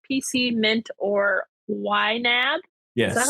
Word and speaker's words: YNAB: Number 33, use an online tool like PC Mint or YNAB. Is that Yes. how you say it? Yep. YNAB.